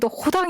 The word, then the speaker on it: 로댕: 'r' 발음 이 목구멍 에서 나 는 소리 이기 때문 에 ' 파리 ' 라고 발음 하고 , 로댕은 ' 로단 ' 이라 고 도 불립니다 .